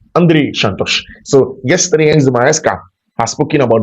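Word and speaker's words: Andrey Santos: And then of course Andre Santos name is Andre Shantosh. Andre Shantosh.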